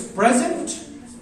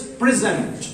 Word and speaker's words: present: So point is once again, as a noun it becomes present, as a verb it becomes present.